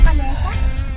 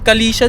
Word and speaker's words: Kalesa: galing Kali Kalicia Grill hindi ba kalesa? Kalesa pero ah kalesa grill kasi yung pagbigkas kanina ng GPS kalisia daw e. Syempre ano siya Canadian Canadian GPS Calicia pero Kalesa lang yan